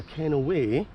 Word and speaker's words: Kennoway: Yep, you can see I have arrived in Kennoway, locally pronounced Kennoway.